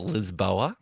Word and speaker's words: Lisboa: to Lisbon or Lisboa, as the locals say.